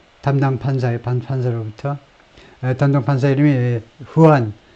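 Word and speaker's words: Juan: 이렇게 이 사건에 있어서의 담당 판사로부터 담당 판사 이름이 후안 M. 머천이고 후안 J가 이제 H 발음이 나죠.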